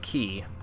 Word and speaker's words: Quay: now here it candlekeep key yes I know it's spelled like Quay but that's not how you pronounce it so not not that